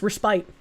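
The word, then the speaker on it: respite: Resbit is correct, though. No, it's resppite. It's resppite. Restit is not correct.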